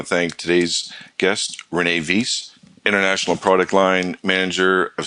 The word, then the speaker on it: Vis: If you pronounce my name and you say Vis, that means dirty in Dutch. So, no, it's Vis. It's the Dutch. It's a translation for the word fish in English.